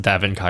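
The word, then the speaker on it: DaVinci: It's It's pronounced Davin Kai Resolve.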